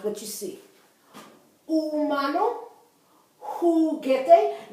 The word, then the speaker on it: humano: Humano. Juguete. Notice I didn't say humano, right? I said humano because that H is there only so the word doesn't begin with the U, but it's not there for sound.